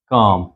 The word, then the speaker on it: calm: They are calm. ये L silent है.